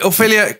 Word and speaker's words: Ophelia: Oye, Ofelia, cuéntanos por favor para nuestra audiencia dónde te pueden encontrar, te pueden escuchar y ver.